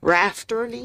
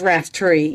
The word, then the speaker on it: Raftery: I've been pronouncing your name all this time wrong. Rafterty? It's Raftery, yes.